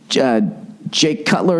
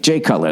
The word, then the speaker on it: Jay Cutler: Jake Cutler. Is it Jay or Jake? Jay Cutler. That's right.